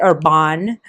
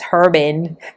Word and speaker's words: Herbin: But Jacquerbon, I think other people pronounce I've heard other people say Urban, but I think that's a very like American way of saying it. I think that's fine instead of saying it as Herbin. That's more atrocious. It's more scandalous to say Herbin.